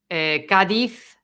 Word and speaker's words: Cádiz: No, every Z, yes. Yes. Z every single time is C. Cádiz, zapato, okay?